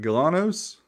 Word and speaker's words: Galanos: to say it wrong is it Galanos that's right a lot of telling